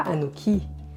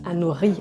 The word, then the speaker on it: Anori: Non, pas Anouki. Ça se prononce Anori avec le R qui gratte au fond de la gorge.